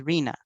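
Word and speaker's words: RHNA: here's another acronym and it has its own way of pronunciation and and we describe it as rena but what it technically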